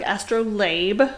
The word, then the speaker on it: astrolabe: And it looks like astrolabe, but it's pronounced astrolab.